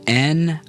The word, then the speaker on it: 您: 国 Now let's practice saying N-I-N in the second tone together.